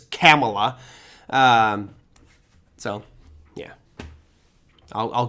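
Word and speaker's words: Kamala: always say Cala well it's not Camala I know that it's camela um so yeah I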